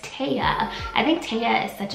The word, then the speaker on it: Tea: The next name I have for you is T-E-A, which is pronounced Taya.